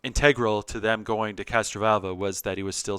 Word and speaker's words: Castrovalva: the um castron how do you say that castranova castrovalva that's the one castro vulva castro that's right